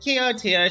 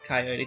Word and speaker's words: Coyote: Chaka, that's Coyote Shirakurai, right? Actually, it's pronounced Coyote.